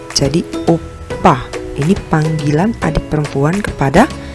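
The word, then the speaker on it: 오빠: Dibaca opa, opa. Sebenarnya ini double biep, tapi penekanannya biasa lebih ke p. Jadi opa.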